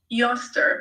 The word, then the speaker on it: Eostre: So it's the name of a festival, Easter, and it was a goddess named Eostre, which is spelled Eostre, and she was the Anglo-Saxon goddess of spring and dawn.